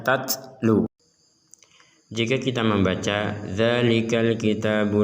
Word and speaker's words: تَتْلُو: Huruf ta harus ada nafas keluar sehingga dibaca tatlu.